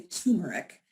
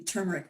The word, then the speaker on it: turmeric: time most people say turmeric and it actually has an r in there so um you can impress people with your your intimate knowledge of the turmeric root by first pronouncing